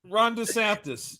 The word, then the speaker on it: DeSantis: in Florida who deandis how do you pronounce his last name the guy in Florida that's running for president they said he's worse than Trump oh oh Rhonda Sanchez Ron DeSantis yeah yes when you said